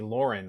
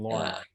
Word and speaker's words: Lorne: Everyone screws up my name and calls me Lauren. I grew up with, Lauren. No, I'm Lauren. Lauren rhymes with corn or other dirty things that you can think of.